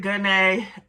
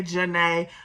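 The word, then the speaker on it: Genae: Some people pronounce it Gunay. I say Janae. I've always knew that it was a Janae, just spelled with a G, because the B in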